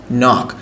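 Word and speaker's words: know: কোন কিছু একটা নো কে এর উচ্চারণ হচ্ছে না কে এর পর এন নাইফ নাইফ মানে চাকু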